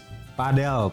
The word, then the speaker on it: padel: Padel. Padel. Padel ya. Nyebut apa pronouncnya padel bukan padle.